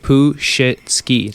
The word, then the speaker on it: Puzhitsky: Yeah, but that's actually how you say it. Puzhitsky.